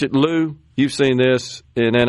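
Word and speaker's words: Liu: I'd go with Lou. Yeah, I think that's probably right. With the I is silent, right?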